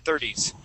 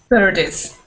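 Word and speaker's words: thirties: and we want to do the same thing with 30s with the D sound at the end 30s 30s good good other than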